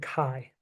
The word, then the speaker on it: chi: Chi okay and we we pronounce it Kai and we call it